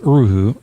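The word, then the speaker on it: erhu: Have you ever heard of an eroo? Absolutely not. Uh I mean I have now u I think is how it's more more properly pronounced. Uruu uh is to in Mandarin.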